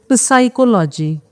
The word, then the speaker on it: psychology: So it is psychology, but we say it psychology. P is silent, right?